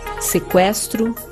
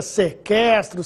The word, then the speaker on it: sequestro: Embora o trema não seja mais usado, a pronúncia das palavras que recebiam trema continua a mesma. Ou seja, devemos continuar pronunciando a letra U.